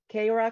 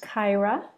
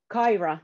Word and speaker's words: Kaira: have today uh an academy teaching offered by keira jule lingo and the pronouns are she and her and it's pronounced kaira kaira sorry sorry and so thanks for the offering